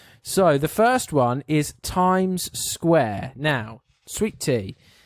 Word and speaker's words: Times Square: no s there is there's two s's yeah as in it's Times Square I don't think people